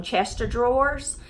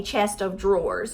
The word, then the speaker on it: chest of drawers: of drawers because everybody calls them Chester drawers so they think it's like Chester drawers like could you say it so fast Chester drawers but but it's really a chest of drawers you know okay so